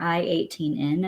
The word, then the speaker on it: i18n: next we have spelled kit and internationalization or i18n as another way of pronouncing it let's finally solve this never-ending story